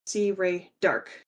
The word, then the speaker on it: C. Rae D'Arc: Azie dog and yes to say my name it's C Ray dark you don't need to